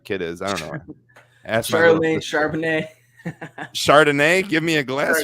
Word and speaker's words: Charbonnet: Zach Charbonnet. That's it. Look at that. Kind of sounds like what's his name? Charlemagne, whatever that kid is. I don't know. Charbonnet.